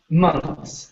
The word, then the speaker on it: months: nice okay uh now this word here is pronounced months so forget about the th there okay it's pronounced like